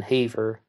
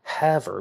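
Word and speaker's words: Havre: was in haver however excuse me there was that um one video online that you can hear that mispronounces it that's why i said haver but um have her montana some people would be very upset with me if i mispronounced that one the new trial was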